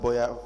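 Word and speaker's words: Boyer: Cel and Boya is it Boya F toin spell it I'm not familiar with that b o y e r Boya factoran yes the scope of the service is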